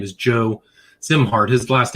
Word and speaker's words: Szimhart: His name is Joe Zimart. His last name is spelled S Z I M H A R T pronounced Zimart.